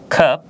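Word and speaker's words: cup: যেমন কাপ, এখানে সি এর পরে ইউ লেটার আছে এবং শুদ্ধ উচ্চারণে যদি আমরা লক্ষ্য করি এখানে বলেছে কাপ অর্থ কাপ, আমরা যে কাপে চা খাই কাপ।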